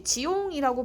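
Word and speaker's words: jiong: J-I-O-N-G, 지옹이라고 발음이 나는 발음 기호가 있습니다.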